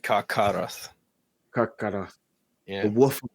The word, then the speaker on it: Carcharoth: I love this that Carcharoth or I don't know if CH is a K sound. It's pronounced as like Carcharoth.